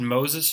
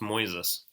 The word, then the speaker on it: Moises: he was like God he said Moses or something and you said it was pronounced Moises right something like that and